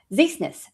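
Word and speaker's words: Ziesenis: Your last name is Zeesness. You say it like Z you're sneezing.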